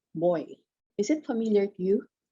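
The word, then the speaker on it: Boie: And it is the right pronunciation is Botica Boy.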